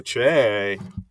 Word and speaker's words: Che: Weekend update, or weekend update, if I pronounced that correctly, uh, with Colin Jost and Michael Che. Like a Che.